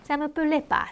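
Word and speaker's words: ça me plaît pas: 많이 생략한다고 했죠 그래서 실제로 느 발음 안 하고 사무 플빠 그래서 사무 플레에서 바만 붙여서 발음하는 사람도 많습니다 사무 플레바 사무 플레바 무레바 이렇게요 자 기억하시고요 누구한테 뭔가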